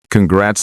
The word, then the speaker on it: congrats: Congrats on the baby. Just be careful with spelling. Many people spell it with a D. Congrats. That is wrong. It is a T.